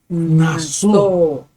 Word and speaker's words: Naso: Estamos con la Parashá Naso. ¿Ok? Acento en la O.